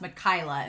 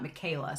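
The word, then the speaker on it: Mikaela: convenient location that that mikayla is going to i've been told it's supposed to be pronounced mikayla and not michaela so i'm going to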